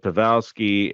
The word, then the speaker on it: Pavelski: with Joel Pik and uh which I completely butchered his name p pavi that's what it is with pavelski and with Jamie Ben I mean the way